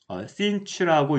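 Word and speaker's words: sinh: 그래서 문헌상으로는 얘를 읽을 때 sinch라고 읽는다라고 이제 제가 책에서 본 적은 있지만 저도 한 번도 그렇게 들어본 적은 없습니다.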